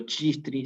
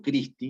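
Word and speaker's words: Christi: Yo no digo chistri, sino digo Cristi. Entonces suena como una K.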